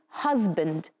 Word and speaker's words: husband: Husband. So Mary and Ted are married. Mary is a wife. Ted is a husband. And the letter S that we have here is pronounced as Z.